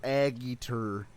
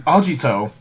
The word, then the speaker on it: Agito: talking about caiman raider aggieter no you said it wrong it's ajito how'd you two it's